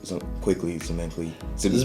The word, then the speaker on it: Zmikly: Zmikly. Zmikly rhymes with quickly. Zmikly. Oh, okay. Or sickly. Zmikly. It's the ZM that's the hard part.